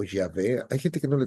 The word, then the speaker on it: Yahvé: diga Jehová, porque realmente el nombre no es correcto Jehová. Debería ser Yahvé o Yah- Yah- este, bueno, depende como en qué idioma se pone, pero Yahvé.